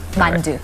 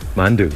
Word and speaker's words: 만두: mandu. mandu.